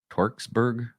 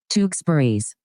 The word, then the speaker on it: Tewksbury: The Grahams and the Torksburg, help me out with this one. Tewksbury's. I totally butchered that.